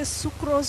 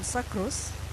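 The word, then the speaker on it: sucrose: I don't know whether you say sucros or sacros depending on where you went to school and who was your English teacher uh that one it's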